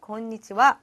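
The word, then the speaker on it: こんにちは: 점심 인사 같은 경우에는 권 리지와 라고 하는데 읽을 때 히라가나 하 를 쓰지만 와 로 발음을 한다는 것 그렇죠 특이사항 이었고 그리고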